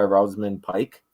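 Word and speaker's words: Rosamund Pike: this movie Super engaging um incredible performance by rosan Pike that's how you pronounce her name she is just pure evil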